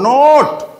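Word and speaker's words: note: উচ্চারণ করতে হবে, ও নোট নো ওট নোট, আর শেষে ই থাকলে ইটা কেমন থাকে? সাইলেন্ট থাকে, ই এর কোনো উচ্চারণ হয় না, কেমন?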